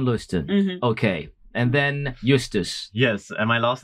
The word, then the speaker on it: Justus: Okay, and my name is Justus. Justus. Yes. Okay, if I'm supposed to go back phonetically, I'd say Justus, but no, Justus. Yes, it's Justus, but it's the Latin word for justice.